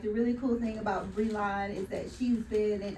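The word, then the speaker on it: Brilann: Yeah, this still looks different than what I said, but they told me how to say it like this. Y'all got it? Okay, so yes, I'm Bree-Ze, correct.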